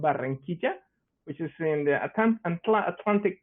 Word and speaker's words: Barranquilla: I'm located in a city called Barranquilla, which is in the Atlantic coast of Colombia, Caribbean coast.